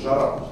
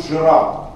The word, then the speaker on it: жара: сла слабо произнеснно А мы же произносим жара Да в старомосковском произношении это было бы произнесено вот так то есть Это был бы звук жира жира и конечно сегодня такое